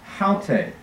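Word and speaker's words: αὕτη: the help for pronunciation these two words look exactly the same don't they this is pronounced alte and this is pronounced halte see the difference alte the difference in the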